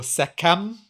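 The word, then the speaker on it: Sekhem: In Egypt, we would talk about sechem or sekem. Sechem would be most likely how they would have pronounced it.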